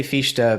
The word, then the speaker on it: Fichte: How do you I say Fichte because I was corrected by a German speaker because okay. Fichte means fuck in German. Okay, gotcha. All right. Okay, so Fichte, so ha, him saying